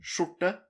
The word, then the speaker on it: skjorte: Just think of this as saying shorts. or short. It's the same. Skjorte, short. So think of it like that.